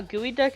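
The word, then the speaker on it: geoduck: gooey blood because I now know how gooey duck is spelled and now I need to know if your name is gooey blood if I've been saying it wrong this entire time I don't know but I found out that gooey duck is spelled g-o-d-u-c-k and I lost my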